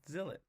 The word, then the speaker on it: Zilot: for coming up with Zill it if you must know Zill it rhymes with spillet and it means blanket